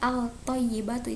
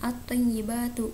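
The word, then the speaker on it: الطَّيِّبَةُ: out thoyyibatu nah maka kita harus membacanya dengan optimize batu tidak boleh Al thoyyibatu itu salah karena kita harus membacanya secara it Khomsiyah ya di sini dimasukkan atyi batu kalau kita baca Al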